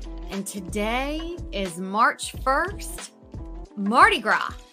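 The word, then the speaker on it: Mardi Gras: today is March 1st Marty gr right yeah that s is silent huh yeah yes like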